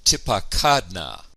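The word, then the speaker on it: תִּפָּקַדְנָה: consonant and a vowel, the accent recedes to the second to last syllable, and we get tipakadna.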